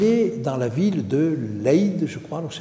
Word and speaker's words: Leyde: Parce qu'il est dans la ville de Leyde, je crois, alors, je ne sais pas si on prononce comme ça, certainement pas, mais aux Pays-Bas. Alors, L-E-Y-D-E, je ne sais pas comment ça se dit, vous allez me le dire.